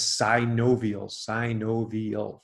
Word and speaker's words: synovial: And then there are six joints, these are the ones that most people know about already, that are classified as synovial, four syllables.